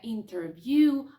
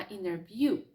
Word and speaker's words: interview: Не interview, а interview.